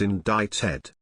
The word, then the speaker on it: indicted: ysk you don't pronounce the C in indicted ysk I've heard too